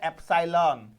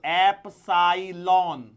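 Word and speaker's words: epsilon: जिसे बोला जाता है ए सालन देखो इसको एलन स्पेलिंग लिख लो चाहिए तो एप सालन ए सालन ठीक है या एप सालन जो भी बोलना है बोल लेना ठीक है यदि मान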